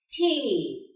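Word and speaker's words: Tee: This will be pronounced as A. So the word is dear, tay.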